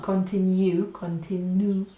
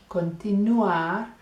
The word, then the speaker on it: continuar: Mañana we're going to continuar, listen, not continue, continuar Con la pronunciación, we're going to do double L, making y sound.